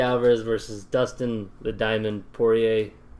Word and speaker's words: Poirier: versus Dustin the diamond Poirier saying that right boy a that there's less water yeah yeah it's poor yeah it's spelled weird yeah I mean a silent yeah anyway between